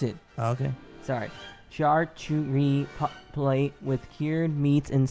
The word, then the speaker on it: charcuterie: That's not how you pronounce it. Oh, okay. Sorry. Charcuterie plate with cured meats and sausage, mussel steamed